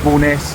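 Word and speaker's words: Bowness: The town that's beside the lake is called Boness in Windermir. Now, that's not Boness with an apostrophe as it is in Scotland. That's B O W N S.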